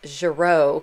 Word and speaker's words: Girault: to relax and paint Giroux pastels is a French company so it took me a while to pronounce gyro correctly and this is the